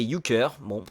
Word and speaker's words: Euchre: L'Ushre, qui est apparemment prononcé Euchre, est un jeu alsacien